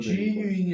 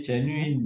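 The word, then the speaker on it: genuine: 이게 장르라고 읽어요? 장르도 있고. G유인이 아니고. 아니, 제뉴인, 이거는 네.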